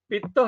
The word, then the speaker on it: Pitta: Vata, Pitta and Kapha. This is the proper pronunciation.